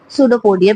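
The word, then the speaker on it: pseudopodia: Fingers like projection called सूडोपोडिया। P silent है। याद रखिएगा जो सूडोपोडिया उसके अंदर जो उसका पी है वो साइलेंट है।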